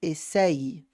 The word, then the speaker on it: essayes: Agora, quando eu tenho Y, eu tenho dois Is na pronúncia. Então, eu vou ter tu essayes.